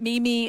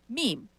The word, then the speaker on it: meme: The e makes the other e the long e meme. I believe it's pronounced mayay.